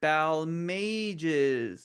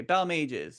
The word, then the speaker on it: Balmages: Say it all together. Bal Mages. Yep. Okay. B Mages. So, again, go forth and and be disciples of my correct pronunciation of my name.